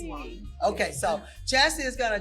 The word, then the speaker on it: Wiley: Is it Wiley? Did I pronounce it right? It's Wiley.